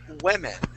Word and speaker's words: women: at the end woman um uh we have women okay now it's spelled w-o-m-e-n but the way that we pronounce it is